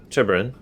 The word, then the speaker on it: Turbarin: How do you pronounce that? I want to make sure I'm saying that right. Turbarin. The same.